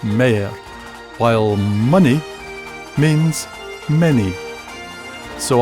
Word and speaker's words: mair: Common Scots pronunciations are yin for 1 and twa for 2, fower for 4, pit for put, and more becomes mair, while money means many.